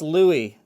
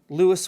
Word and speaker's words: Lewis: book lewis's mixed drinks i know people are going to say but glenn that's louie um lewis was a german american and everything i've read about the guy says that he pronounced his name lewis so i'm going to go with lewis but it could be louis you could be right uh the second one